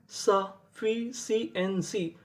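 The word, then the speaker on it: sufficiency: आपको एक रूल याद रखना है, अगर आपको इंग्लिश की किसी भी मीनिंग में कोई अक्षर अगर दो बार लिखा मिले तो उसको पढ़ते खाली एक बार है। कहने का मतलब एफ हमारा दो बार लिखा है लेकिन उच्चारण खाली एक बार करेंगे।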